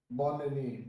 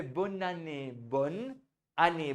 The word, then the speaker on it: bonne année: Bon année. So you would say bonne année, bonne année, bonne année. Bonne année. हाँ, तो bonne और année एक साथ हो जाएगा.